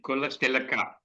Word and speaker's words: Kulatilaka: Professor Athula Kulati Laka. Is my pronunciation correct, sir? Yes. I think Kulatilaka.